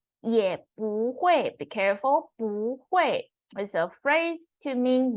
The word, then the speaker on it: 不: modification, we talked about if the word after this 不 character is 4th tone, then you don't pronounce 不 as 4th tone, you need to pronounce as 2nd tone. So 不会也不会有经济压力。Also will not, still